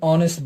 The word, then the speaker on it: honest: tim is a very honest boy so the h is silent because we studied here